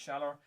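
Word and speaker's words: Schaller: I think they're pronounced shaller, a shaller hands bridge.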